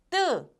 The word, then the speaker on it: 뜨: Next one is 뜨, 뜨.